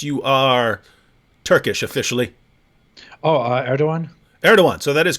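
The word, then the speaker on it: Erdoğan: asked your position on it's spelled erdogan but it's like erdogan right something like that yeah yeah yeah erdogan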